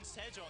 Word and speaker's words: Sejong: It says Yoonjong King, but Jong rhymes with King Sejong.